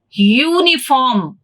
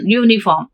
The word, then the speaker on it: uniform: u and i so here specifically uniform we pronounce it as you you means just now i have given like a phonetic transcription you oh sound you uniform if it is a